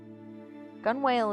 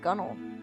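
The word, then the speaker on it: gunwale: sense gun whale is pronounced gunnel what the [ __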